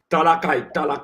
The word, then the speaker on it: Talakai: Talakai, the man from Talakai, not Talapia.